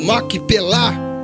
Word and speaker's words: Macpela: O nomeela ou Maquipelá, a pronúncia certa, significa dobrado em hebraico, referindo-se às duas cavernas sobrepostas ou aos casais sepultados ali.